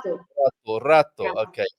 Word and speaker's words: rato: And how do you pronounce Rato. rato? Rato. Rato. Okay. Always Rato. practice rolling your R's, especially when walking down the street.